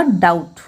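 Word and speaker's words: doubt: बना उस नहीं करेंगे बीट साइलेंट रहेगा इसका प्रदर्शन होगा डाउट सीधे आउट with hair death date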